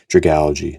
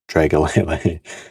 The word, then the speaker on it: Dragalge: Excuse me for my poor pronunciation, but that brings us to the first hit of today's episode, which, funny enough, I already have the SIR for Dragalge, not Dragalele. Very nice cards.